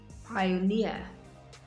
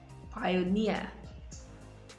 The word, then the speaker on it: pioneer: stress is usually placed on the last syllable of words that end in eer engineer engineer volunteer volunteer pioneer pioneer auctioneer auctioneer finally stress